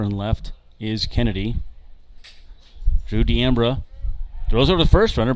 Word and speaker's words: D'Ambra: I didn't know how to pronounce it. Nobody did. He's so new, so I had to go find him in the outfield before the game. He was running laps out there in left field, and Luke Bay yells over, D'Ambra, and he's like, yep, D'Ambra. I was like, okay, just want to make sure I say it right.